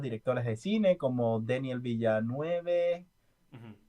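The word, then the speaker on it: Villeneuve: Y bueno, siento que se olvidan muchos actores, perdón, muchos directores de cine como Daniel Villanueve, Ujú. así es que se pronuncia, es francés, ¿no?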